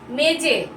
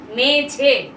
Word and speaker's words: মেঝে: মেজে নয়, মেঝে।